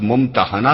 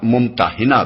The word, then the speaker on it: ممتحنہ: الممتحنہ رکھا گیا ہے۔ اس کا تلفظ ممتحنہ بھی کیا جاتا ہے اور ممتحنہ بھی۔ پہلے تلفظ کے لحاظ